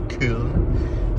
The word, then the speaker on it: Köln: That's how they pronounce it in Germany, Köln.